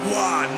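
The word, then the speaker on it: Roy: And the man of the hour, the guy that you said His name is pronounced Waugh.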